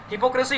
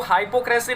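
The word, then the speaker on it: hypocrisy: कपट को बोलते हैं, इसको हाइपोक्रेसी नहीं बोलते। काफी बार स्टूडेंट्स जो प्रोनाउंसिएशन रॉन्ग कर देते हैं, हाइपो नहीं होता, हिपोक्रेसी। ये क्राइसी भी नहीं होता स्टूडेंट्स, ये आई ए का साउंड दे रहा है।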